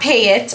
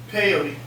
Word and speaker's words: Peyote: like were not not pay it I've been saying his name wrong not pay it but say coyote but with a p sound so pyote peyote peyote thank you peyote